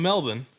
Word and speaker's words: Melbourne: University of Melbourne. Melbourne? Yeah. So you pronounce that oh, city.